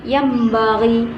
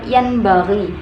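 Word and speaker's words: يَنْبَغِي: Kemudian yang nomor 2 dibaca yambaghi, bukan yanbaghi, tetapi yambaghi.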